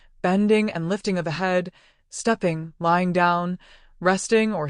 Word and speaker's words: He: He, pronounced like her with a yawn, which is associated with the heart.